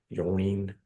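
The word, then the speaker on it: Ylourgne: by Clark Ashton Smith's Colossus of Yawning. Yawning is how you say that.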